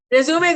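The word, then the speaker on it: résumé: R-E-S-U-M-E, resume. So the highlight is on the stress is on the M, resume, which is a French word.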